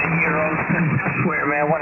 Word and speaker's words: gyros: By the way, I know they're pronounced gyros, and I swear, man, when I'm in that speaker at Arby's, I just did this the other night because I got K1.